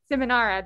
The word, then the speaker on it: Seminara: you this before, but can you help me out a little bit with your last name? I want to make sure I pronounce it right. Oh, I think Dave. I'm sorry. Seminara.